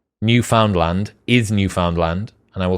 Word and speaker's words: Newfoundland: have you been to or said the word newfoundland and if so i'd bet 10 000 subscribers